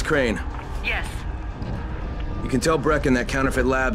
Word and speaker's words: Crane: no my name's crane crane crane rhymes with train and brain and sun and grain